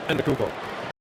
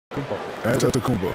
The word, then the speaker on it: Antetokounmpo: Shaq, you bestowed your Superman nickname on Giannis Antetokounmpo. What made him worthy of that distinction? And would you please, for the audience, say his last name? Say the last name. Antetokounmpo. Oh, see you again. Antetokounmpo.